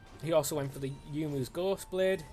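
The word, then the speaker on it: Youmuu: He also went for the Yumu's Ghost Blade. Is it Yumu? I always say it's Yumu. That's basically how it's spelled, so that's what I'm going with.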